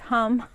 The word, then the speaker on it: ham: It has a 16-petaled lotus flower, and it's associated with the mantra of ham, which is pronounced hum, but it's spelled like ham, like a pork roast.